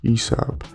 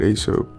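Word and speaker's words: Aesop: lastly we have uh what I recently discovered is pronounced ESOP um I've been calling it ASO but uh however you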